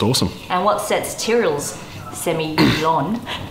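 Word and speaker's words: Sémillon: and what sets tyrell's semi-lon as i'm now going to say so i i say semillon and samuel i kind of get both but uh i think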